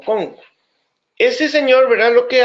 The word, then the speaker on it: Kuhn: Hay un señor Kuhn, es un señor estadounidense, sí, es estadounidense, que Kuhn o Kohn, creo que lo pronuncian como Kohn.